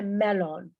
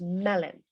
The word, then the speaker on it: melon: Nos acordamos cuando una palabra acaba en O-N, casi siempre en inglés se pronuncia N, lemon. No se dice lemon, it's lemon. No se dice melon, it's melon.